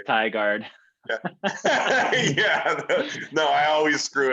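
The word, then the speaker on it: Tigard: with pronouncing the names i always called it tiggered but it is thai guard yeah no i always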